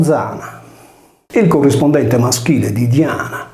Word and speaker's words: Diana: Diana si leggeva Zana, come si pronuncia ancora oggi nel nuorese, il nome della nostra diva lunare primordiale.